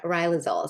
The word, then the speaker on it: Riluzole: But now we know it's pronounced Riluzole.